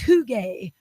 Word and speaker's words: Huge: So the person at work pronounced it huge. And the lady came and said, I am a large woman and you just called me huge. And the worker was like, no, phonetically, this is spelled, I would say huge. Huge. Yes. They're like, no, it's hoogie. Hoogie? What? I would have never got a hoogie out of huge.